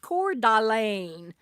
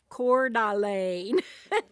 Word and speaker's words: Coeur d'Alene: She says it's pronounced Coeur d'Alene. Coeur d'Alene.